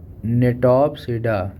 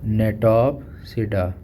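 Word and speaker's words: Gnetopsida: फिर है नेटोप्सिडा, जी इसमें साइलेंट है, जी, नेटोप्सिडा, इसका एग्जाम्पल क्या है, गिनेटम।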